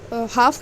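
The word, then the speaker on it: half: silent शब्द ठीक है तो नाइस हाफ में ठीक है हाफ में ल साउंड नहीं हो रहा और नाइफ में हा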